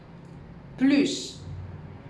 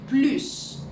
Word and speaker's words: plus: Plus. Acordaros que esta es una excepción donde se pronuncia la S a final de palabra. Plus.